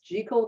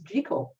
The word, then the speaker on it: Jekyll: and Mr Hyde I'm saying it purposely as jico because I guess he was from Edinburgh Scotland Robert Louis Stevenson was also Scottish and the correct pronunciation up in them Parts is jico so anyway he wrote his judical and hide